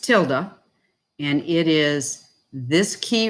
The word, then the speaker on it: tilde: the key is called a tilde okay it's pronounced tilde and it is this key right here it's